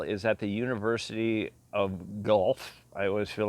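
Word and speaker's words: Guelph: word i think it's gelf something like that but it's spelled g-u-e-l-p-h um if you try to pronounce it phonetically the way it's spelled it'll sound like you're throwing up or you've got a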